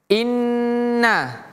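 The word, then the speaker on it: إنّ: Inna. Jadi bacanya in na. inna masuk dulu ke yang mati in baru pindah ke yang hidup na inna tapi tidak boleh terputus contoh in na tapi ditahan disambung inna nah itu kalau huruf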